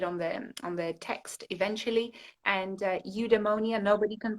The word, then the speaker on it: eudaimonia: And eudaimonia. Nobody can pronounce it. Nobody can say it. It sounds like pneumonia, which is not very good for current times. But eudaimonia is an ancient Greek